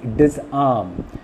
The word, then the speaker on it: disarm: That means disarm. Now disarm is not a negative word, and that is the reason why the second syllable arm is stressed.